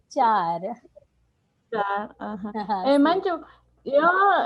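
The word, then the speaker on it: चार: 4 se dice char.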